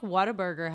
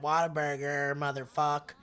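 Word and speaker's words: Whataburger: it what a burger it's spelled what a burger but a burger everyone there says what a burger what a Burg yeah I think it just evolved Into Water Burger like you have to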